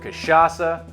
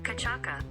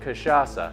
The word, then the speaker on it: cachaça: that we're making with kasasa casasa I think it's casasa hold on how do I get to Siri hey Siri how do you pronounce kashasa kachaka that ain't right so this cocktail we're